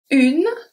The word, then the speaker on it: une: Une, I don't say une. So we don't pronounce the E at the end.